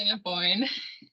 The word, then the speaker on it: Assiniboine: Assiniboine River? I'm not sure. It's the Assiniboine.